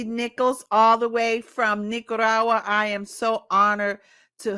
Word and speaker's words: Nicaragua: me all the way from Nicaragua y'all from Nicaragua okay am I saying it right am I